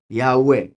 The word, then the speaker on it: Yahweh: Entonces, Yahoo E. ¿Está claro? Yahweh. Entonces aquí tenemos el nombre Yahweh, la pronunciación correcta.